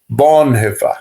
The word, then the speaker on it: Bonhoeffer: A pronúncia correta é Bonhefa. Bon.